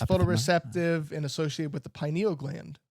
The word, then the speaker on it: pineal: It's photoreceptive and associated with the pineal gland. Ooh. Pineal. Epithalamus and pineal, but yes, otherwise very good. All right, no points awarded. And this is Forrest correcting your pronunciation.